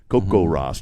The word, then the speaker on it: Coco Ross: Coco Ross. Just remember, it's not Coco Puffs. It's Coco Ross. If you want to put a little Espanol on it, roll your R.